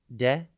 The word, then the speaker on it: destitute: It's pronounced de-st-tute, and it is spelt D-E-S-T-I-T-U-T-E. Think dest, it, and then ute.